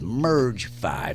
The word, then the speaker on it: Merge V: You got to spell it on radio phonetically. Merge but I'm saying how it really is, Merge 5.